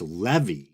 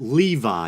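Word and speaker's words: Lévi: first Baphomet documentary that I believe I pronounced the name Eliphas Levi. But upon further research, it appears that Levi is the more proper pronunciation, so that's what I'm going to be going with.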